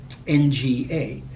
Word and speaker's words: nga: sounds can be in one notorious thing about Nelly is that it has this NG sound at the beginning of a word so the word for you is not nga now the ng sound is very familiar in English we have an all over the word sing bring on whatever what we don't have is that the same sound at the beginning of the word if you speak Indonesian